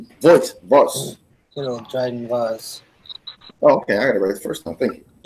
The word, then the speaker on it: Dryden Voss: In Solo, a Star Wars story, who played the gangster Dryden Voss? Voss. Good old Dryden Voss. Oh, okay, I got it right the first time. Thank you. Yeah, you got it good. Dryden Voss.